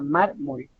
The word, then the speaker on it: mármol: Y tenemos otro ejemplo, mármol, que es solamente de 2 sílabas y lleva en su penúltima sílaba, que en todo caso sería la primera sílaba, sería mármol.